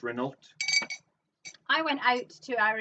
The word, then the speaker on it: Renault: It's pronounced Renault.